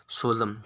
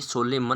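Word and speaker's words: solemn: सोलम। क्या है ये? सोलेमन नहीं, ये सोलम है। क्या है? जैसे कोलम की स्पेलिंग में एम एन आता है, लेकिन हम कोलम बोलते हैं। ये क्या है? सोलम है।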